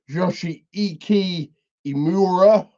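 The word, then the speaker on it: Yoshiki Inamura: Luke Jacobs one for one with let me pronounce it properly joshii imura um of Noah fame um my first look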